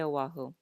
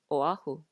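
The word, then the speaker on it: Oʻahu: remember the okina, because if we don't pronounce the okina, the vowels will glide together when there really should be a separation of the vowel.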